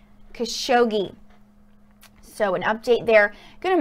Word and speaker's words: Khashoggi: update on Jamal khashoggi I apologize I've been saying it wrong for a minute it is Jamal khashoggi so an update they're